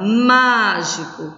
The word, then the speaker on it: mágico: Na palavra mágico, qual é a sílaba tônica? Má.